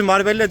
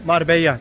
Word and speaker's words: Marbella: Marbella Sahi şeritlerinden geziyoruz Türkçesi Marbella diyoruz ama ispanyollarda 2 l y diye okunuyormuş ondan Mar beya deniliyor muu ve bizim sahiller